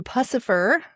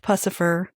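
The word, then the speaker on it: Puscifer: Finally, we get to pacifer. And it is pronounced pussifer. I've heard Maynard say it.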